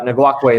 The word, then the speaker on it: Ngakoue: I'm not going to pronounce that. Ngakoue, there you go.